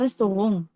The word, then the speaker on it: Restaurant: Jadi bacanya Restaurant. Tulisannya restoran, tapi bacanya restoran. Karena ini diambil dari bahasa asing.